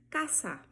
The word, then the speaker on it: casa: No espanhol não existe som de Z, tá bom? Então, por exemplo, casa em espanhol eu falo casa. Se escreve do mesmo modo que o português, porém a pronúncia vai ser diferente por essa característica que eu acabei de falar.